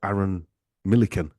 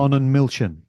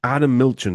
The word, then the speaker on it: Arnon Milchan: The producer, Aaron Millican. Who directed The Revenant? Arnon Milchan. Arnon Milchan, that's him.